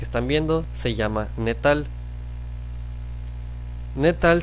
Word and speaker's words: gnetal: viendo se llama netal netal se escribe con una G Al principio pero no se pronuncia Así que este tipo